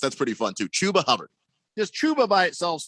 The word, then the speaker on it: Chuba Hubbard: carolina picked up a rookie running back named chubba hubbard uh who was decent in college please tell me that's true his name is pronounced chuba hubbard but yes shabba i like that i he's